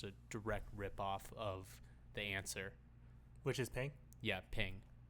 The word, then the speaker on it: Anser: direct ripoff of the Answer. Which is Ping? Yeah, Ping. And the Okay. Answer is spelled Anser, no W, not like regular English.